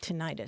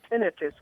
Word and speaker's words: tinnitus: And there are even style guides that will tell broadcast announcers to say tinnitus. Yeah, right? that's right. I found an NBC style guide from the 1950s. That's the pronunciation that they recommended even back then. I'll be darned. Okay, I thought maybe tinnitus was actually correct, so either one is.